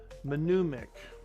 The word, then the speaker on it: mnemonic: No, not with a P. Mnemonic. Mnemonic, pronounced mnemonic, a tool, trick, or strategy used to help you remember information.